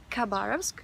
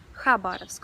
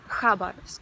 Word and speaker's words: Khabarovsk: You probably noticed that I pronounced the name of the city as Khabarovsk, but in Russian it is Khabarovsk, so the first sound is not K, it's H.